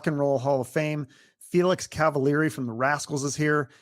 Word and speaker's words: Cavaliere: from 11 Spoonful yeah he he pronounced my name correctly and it screwed everybody up but the American version is cavaler yeah okay well welcome Felix cavaler to to my little